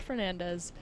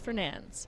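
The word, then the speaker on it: Fernandes: a long time that it's not Fernandez it's fernan it's fernan but it doesn't that doesn't make any sense right but it's uh Portuguese and that's how it's said in Portuguese so Fern there we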